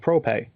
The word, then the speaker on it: Prope: Anyway, after he left, he created a company called ProPay. It's spelled Prope, but there's some interesting stuff like Let's Tap, which was just a puzzle game with a box.